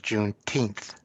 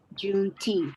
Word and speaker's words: Juneteenth: have heard about that one you know correct pronunciation is juneteenth juneteenth right you're right um so you know that